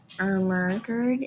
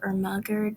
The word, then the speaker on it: Ermergerd: So, if you want to speak the language, then you probably want to pronounce Ermagerd as Ermergerd instead of Ermagerd, because that's.